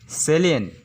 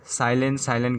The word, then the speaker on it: salient: पर आता है वर्ड सेलिएंट, SALIENT। इसमें 2 सिलेबल है। अगर इंग्लिश में लिखने जाते हैं तो उसका होता है SALIENT प्लस LIENT। हमेशा लोग इसे साइलेंट करके प्रोनाउंस करते हैं, ये गलत है।